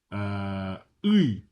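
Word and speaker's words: ы: Next, uy, uy is how you pronounce this word.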